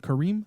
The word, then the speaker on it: Kareem: I rewatched coffee and cream coffee and Kareem I disagree he said cream yeah so reading quickly you know but his name is Kareem there's two syllables not cream I just want curry